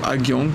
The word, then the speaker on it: Ha Giang: Et oui, on s'apprête à faire la boucle de Ha Giang, ou Ha Giang, prononcée à la française, qui est en fait une boucle tout au nord du Vietnam d'à peu près 350 km.